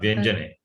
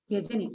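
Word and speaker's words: व्यजने: Not Vyanjane. It is Vyajana. Vyajane. Okay, sorry. Te Vyajane. If you say Vyanjanam, Vyanjanam is consonant.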